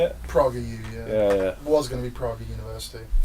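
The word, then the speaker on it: PragerU: Praga U, yeah.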